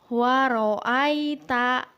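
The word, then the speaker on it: وَرَأَيْتَ: Ayat kedua, waro'aita. Aita dibaca ai, bukan ae.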